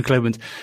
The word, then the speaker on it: Globant: and and good job you did pronounce it correctly it is glob there we go globin and well do you know what is globin is that just a name that is just kind